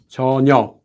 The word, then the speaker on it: 전혀: And 전혀, due to sound change rules, remember here you have a consonant before the 히읗, so the 히읗 goes away, is just 전혀. There is no 기역 at the end.